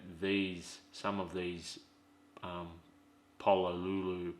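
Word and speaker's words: Pololu: doesn't mean that these some of these um Polo Lulu paulu however it's pronounced stepper drivers it's p o o luu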